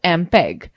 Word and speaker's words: MPEG: Students, note the fact MPEG, pronounced as MPEG, stands for Moving Picture Experts Group.